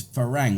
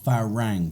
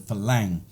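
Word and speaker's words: ฝรั่ง: but the word is farang and it's actually an ah farang but because tires have a difficulty pronouncing the r they change it to an l so you'll hear the word falang but either way farang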